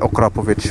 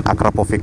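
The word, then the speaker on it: Akrapovič: kalian tahu okrapovic ya cara baca okrapovic bukan akrapovov imnya gimana sih citranya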